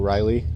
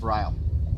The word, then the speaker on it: Ryle: sheriff's, who's really cool, Riley, I think is his name. And he's really a cool guy. Oh, it's Chief Ryle. Ryle. Okay, yeah, I was saying his name wrong, but okay.